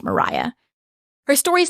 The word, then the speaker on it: Maria: to look her up her name is actually spelled like Maria but it's pronounced Mariah her story is not